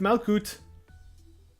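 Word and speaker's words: Malkuth: Malkut. She pronounced it Malkut.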